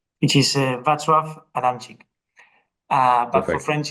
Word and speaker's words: Wacław Adamczyk: His full name is a little bit difficult to pronounce, but I'm gonna try to do it correctly, which is Wacław Adamczyk.